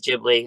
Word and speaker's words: Ghibli: uh or Studio Ghibli he says a Ghibli you know the correct pronounce is Ghibli there's a lot of